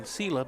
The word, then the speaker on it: Sela: And I'm saying Sela, but it's Sela. That's how you would pronounce it. That's how you are pronouncing it.